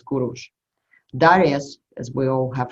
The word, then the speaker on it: Kurush: You know, in Russia he's pronounced as Kir, and then in Persian he was pronounced as Kurush.